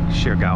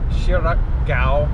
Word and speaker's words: Siargao: port of dapa on shirgaow island so we're officially on uh shiragao island shirak gao i think is how it's pronounced anyways i'll get it